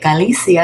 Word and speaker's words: Galicia: them all together and you get Galicia, and it's pronounced exactly like my name.